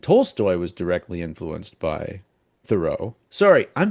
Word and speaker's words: Thoreau: I know he had Toltoy and Toltoy was directly influenced by thorough. Sorry I'm saying it wrong. This was part of my biggest surprise. His name is pronounced thorough like the word thorough.